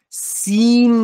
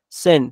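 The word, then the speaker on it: sin: گناهم سن یعنی گناه تلفظ درستش سین نیست ه سین که نیست سن سن بین ای و ا ک من به گناهم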